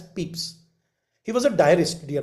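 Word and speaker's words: Pepys: We pronounce this not Pepis but as Peeps.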